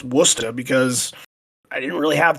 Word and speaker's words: Worcester: I had to bullshit in the beginning with you guys and talk about how to pronounce Woostah, because I didn't really have too much else to bring to the table in this one.